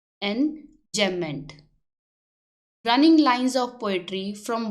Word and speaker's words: enjambment: इसकी प्रोनाउंसिएशन है एंजैम्पमेंट, इसमें बी इज साइलेंट, एंजैम्पमेंट।